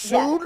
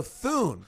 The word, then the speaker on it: Thune: And it's pronounced soon? Yeah. No, Thune.